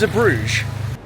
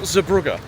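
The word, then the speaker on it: Zeebrugge: The port is Zabbrge. You're about the worst tourist in the whole world. It is not Zabruga.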